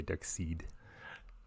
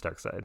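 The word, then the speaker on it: Darkseid: gonna say it right I know it's spelled dark like dark seed people say dark seed but it's dark side yeah I Googled it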